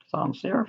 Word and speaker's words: sans serif: Sans serif, that's how you say it.